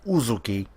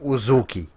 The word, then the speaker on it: Uzuki: with we were stylist it's uzuki don't start saying was okey of a sudden game